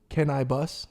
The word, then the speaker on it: Canibus: Remember the rapper Cannabis, which was Can I Bus?